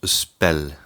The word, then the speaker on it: spel: Pour l'instant, notre radical se prononce spell. Pourquoi cela ? Parce que nous n'avons qu'une seule syllabe et elle termine par une consonne.